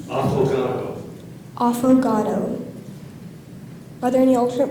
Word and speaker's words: affogato: Affogato. Affogato. Are there any alternate pronunciations?